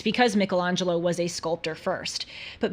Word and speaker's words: Michelangelo: the time of Michelangelo or as I have been told Michelangelo Apparently that is the the proper way to pronounce it Michelangelo lived from 1475